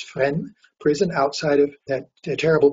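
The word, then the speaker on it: Fresnes: caught went to friend prison it's called it's pronounced friend we say freshness no it's friend prison outside of that terrible prison a gestapo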